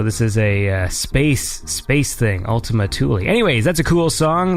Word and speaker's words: Ultima Thule: This is Evader with the track Ultima Thule. That's how it's pronounced, because it is a Kuiper Belt object, but we won't get too far into the nerdiness of that.